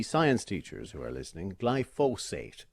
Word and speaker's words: glyphosate: For the science teachers who are listening, glyphosate is the correct pronunciation.